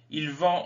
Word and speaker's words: il vend: il vend ils vendent alors il vend on ne prononce pas le d mais ils vendent on